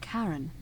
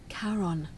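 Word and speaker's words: Charon: It's just as you described it, only your pronunciation is a little off. The name you heard wasn't Karen. It was C H A R O N. That's what I thought. Karon, the fairyman of the dead.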